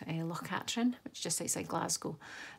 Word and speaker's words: Katrine: My poor daughter's called Katrine the whole time, but Katrin is the way you pronounce the loch.